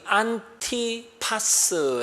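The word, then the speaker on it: 안티파스: 안 디바 입니다 여러분 안 디바의 정확한 발음이 안티 파스 라고 했습니다 또 더 합성어입니다 안티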